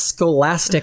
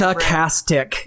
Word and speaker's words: stochastic: It's not scholastic terrorism. It's Satastic. Sorry, it gets really weird to try and say these things once somebody gets the wrong pronunciation. It's stochastic. Yeah.